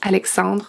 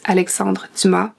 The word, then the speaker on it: Alexandre Dumas: You don't pronounce the s at the end, so it's Alexandre Dumas.